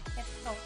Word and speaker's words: 했어: Yeah, but just like mok and o, if syllables ending in z connect to another syllable where the first sound is a vowel, that z or z is pronounced as s combined in the following vowel.